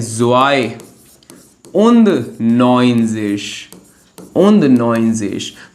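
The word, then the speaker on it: neunzig: उंदन नोइंजेश।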